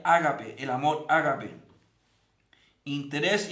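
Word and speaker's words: ἀγάπη: dios primero el amor en griego se pronuncia ágape el amor árabe interés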